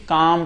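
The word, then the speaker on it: calm: काम पढ़ेंगे। काम माने शांति होता है। तो काम पढ़ेंगे ना कि काल में पढ़ेंगे।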